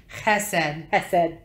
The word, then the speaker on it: Chesed: Chesed. It's Chesed. You have to pronounce it with the Hebrew pronunciation. It's like, no, it's not a hiss. It's guttural. It's chesed.